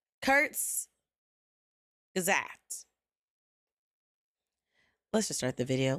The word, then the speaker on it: Kurzgesagt: Okay, Kurzgesagt. Kurzgesagt.